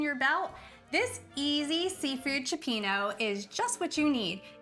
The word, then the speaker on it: cioppino: So we are calling it cioppino. If you call it cioppini or cioppino or whatever, this is so delicious no matter how you say it.